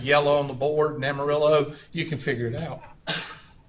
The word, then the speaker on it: amarillo: Amarillo.